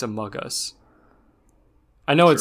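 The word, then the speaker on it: amogus: no i mean like it's pronounced among us just without the n it's not a mogus it's a mug us i know it sounds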